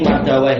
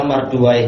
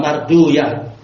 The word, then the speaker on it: Marduwai: Sebagian menulis ini Mardawai, tapi yang malu adalah Marduwai, enggak masalah. Kalau masyayikh dari India membacanya apa? Marduyah, Sibauyah, Ruhauyah, memang lain-lain mereka cara membacanya.